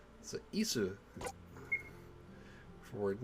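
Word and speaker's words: 椅子: Isu. Chair? Isu's chair? 椅子 It's like the word is in English, but it's not. It's isu. So isu.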